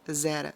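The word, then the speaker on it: זרע: criação e no hebraico a palavra se fala zera se pronuncia zera zera semente a palavra semente traduzida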